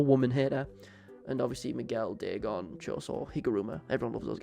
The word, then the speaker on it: Dagon: most about Deeon is how it's usually Americans pronounce his name. And they always say Dagon cuz that's how they say it in the dub. But like Deeon as a character is just a huge HP